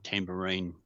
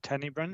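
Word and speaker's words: Tanybryn: I think it's Mount Tambourine. I'm sorry if I not pronounced the name correctly. Apollo Bay is serviced by another tower. Is that at Tanibrin? Is that what you're saying? Yes, Tanibrin. So there's a tower at Tanibrin.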